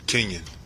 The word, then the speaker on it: Kenyon: So Pete said how to pronounce it. Is it Kenyon or Kenyon? Kenyon.